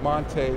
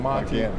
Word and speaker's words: Montee: The only other real hard news here in Chicago has been Montee Ball's transition from Montee to Montee. That's what he would like to be called. That's the way he's always known his name to be pronounced, but it just sort